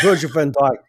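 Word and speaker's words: Virgil van Dijk: I get a say with Virgil Van Djk.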